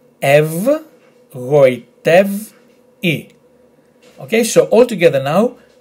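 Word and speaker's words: γοητεύει: So, we have G, O, I, Goi, t, ev, goitev, I.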